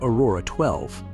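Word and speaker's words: X Æ A-12: In 2020, Xavier Musk was born, an instant global sensation due to his unusual name, pronounced Aurora 12.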